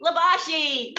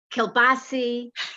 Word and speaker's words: Libasci: You said it the real Italian way because a lot of people pronounce it Libasci, Kilbasi, whatever.